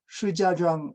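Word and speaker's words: 石家庄: 석가장은 어떤 도시죠? 여러분들 다 지도 외울 때 다 외웠을 텐데, 석가장은 하북성의 성도입니다. 허베이성의 성도, 시자장 이렇게 이제 중국 발음으로 부르는 지역인데, 이 석가장의 북쪽, 여기가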